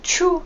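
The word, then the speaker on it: ཆུ: So Choe can also mean river, and Choe, the same pronunciation, can also mean pee.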